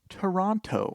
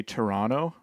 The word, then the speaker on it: Toronto: it's like I say Toronto. I think people from Canada often say Toronto as opposed to Toronto. I notice people in the States say Toronto and they pronounce the T a lot more.